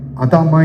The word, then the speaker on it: adamah: ஆண்டவர்னு கேட்டீங்கன்னா, அது ஆதாம், இது எபிரேய வார்த்தையில் சொன்னீங்கன்னா அதாமா என்று சொல்லுவாங்க. என்னது? ADAM தானே ஆதாம். அது கூட AH போட்டுங்க. அப்படின்னா ADAMAH எப்படி ப்ரொனவுன்ஸ் பண்ணுவாங்க?